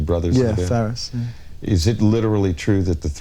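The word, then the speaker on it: Farriss: You had a strange event happen when you formed the band with, is it pronounced Ferris, the brothers in the band? Yeah, Ferris.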